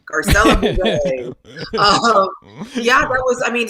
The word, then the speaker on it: Garcelle: ed mcmahon could never say my name right garcelle yeah that was i mean so many people